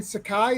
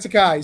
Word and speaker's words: Sakai: Because he hand letters Stan Sakai. Is that how you say your last name, right? Yes. Yeah, I said it right. Stan Sakai.